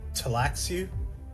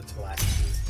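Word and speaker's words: Tleilaxu: Yeah, it's spelled Tleil. It's spelled fucked up. Who are the Talaxu?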